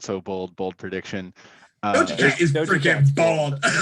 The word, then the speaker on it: Doja Cat: It's not Doja Cat. It's Doja Cat.